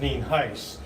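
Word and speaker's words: Nienhuis: as Denise said I'm Hernando County Sheriff nin Heist and is spelled ni n hu i s and it is pronounced nen Heist as we said uh we have a couple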